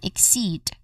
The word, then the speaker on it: exceed: All in all we get exceeded. The stress is on the second syllable. So seed. We get we say again uh we say it again as exceed.